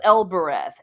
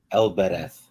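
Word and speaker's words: Elbereth: heard himself crying aloud oh el bireth giffen now i'm probably mispronouncing that so he calls out to elbarath and el bereth yep thank you okay you can say it better than i can so again part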